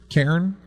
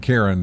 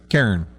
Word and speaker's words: Cairn: It sounds like I'm saying Karen, but it's Cairn.